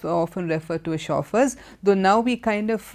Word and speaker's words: chauffeur: first word the first word is the word chauffeur see the word is begins with the CH